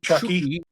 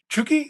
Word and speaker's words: Chucky: Lozano, more commonly called Chucky or Chucky Lozano. Chuki. Okay. Well, in in Spanish it's Chuki, I guess.